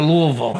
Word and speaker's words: Louisville: No, I went to Louisville. No, Louisville, that's how you say it. Like a little drool coming out of your mouth?